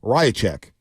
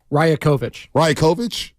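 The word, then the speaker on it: Rajaković: Well, I stayed up for it to hear a rant from the Toronto Raptors coach, Darko Rajacic. Right? Is that right? Rajakovic.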